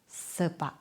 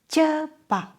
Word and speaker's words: cepat: For example, cari, cinta, cepat, cukup, cuaca. Not kari, not sari, not cepat. It's cepat. Always ch.